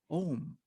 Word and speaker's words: Om: capturing and it's just the sound om which is oh ooh and and i always say it like that uh because and if